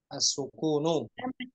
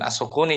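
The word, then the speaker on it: السُّكُونُ: As-sukunu, nah gitu cara bacanya. Tanda jazmnya apa tanda jazmnya? As-sukun. Tanda jazm sukun. Tanda sukun. Nah, gitu. Bukan as-sukuni, jangan dikasrah.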